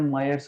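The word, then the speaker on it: Mayer's relation: आर, इसको बोलते हैं मायर्स रिलेशन। कोई कोई लोग मेयर्स रिलेशन प्रोनाउंस करते हैं, that is okay, मायर्स रिलेशन।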